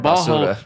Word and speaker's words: basura: How do you say trash in Spanish? And she said it completely wrong. She was like, instead of basura. Basura, you know what I mean? Like it was completely wrong, you know what I'm saying?